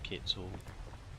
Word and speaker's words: quetzal: And I am well aware that quets is actually not pronounced quets, it's actually Quetzal.